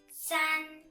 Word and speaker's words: 三: how about this one it's pronounced as sun sun the shape is three